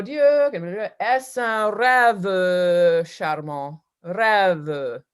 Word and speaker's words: rêve: When you do right at the beginning, oh Dieu, est un rêve charmant, rêve. The second syllable of that is a mute E.